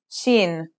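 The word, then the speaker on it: شين: letter we learn is Sheen this one is pronounced just like the English sh in the word shovel this one is very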